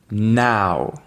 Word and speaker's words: now: Et c'est le suivant qui est souvent mal prononcé, c'est pour dire maintenant, on va dire now.